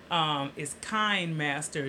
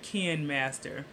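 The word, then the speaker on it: KineMaster: It's Kind Master, not Ken Master.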